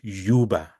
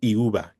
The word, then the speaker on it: Euba: And then lastly, the pronunciation is Euba, not Euba. I didn't know there could be an argument on a name. So think of UBA, Euba, sorry, YUBA, Euba, not Euba, not Euba, but it's Euba, Akin Euba.